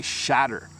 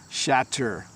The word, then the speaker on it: shatter: words shatter and shudder am i right that the TT sounds like D this makes these words sound the same so listen closely when I pronounce it correctly I say shatter shatter you hear the T a little bit but generally I would say shatter shatter like if you